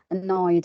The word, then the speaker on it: annoyed: So the ed is pronounced like just da, not id, da, or not ta. Okay, so annoyed.